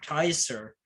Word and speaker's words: Caesar: say it, because it's Kaiser, because the C isn't really a C, like it's K, pronounced with a K.